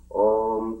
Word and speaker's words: Om: You say A O U-M. Om, just so that people will pronounce it properly. That's what it's written Om in that way.